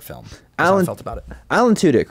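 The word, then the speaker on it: Tudyk: as a short film I felt about it Alan tudk right that's how you say his name he's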